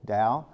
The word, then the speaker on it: Dao: the oldest is Taoism it's usually an English spelled with a t-t-a-o Dao although it's a problem with how do we transliterate the Chinese language taoism is the oldest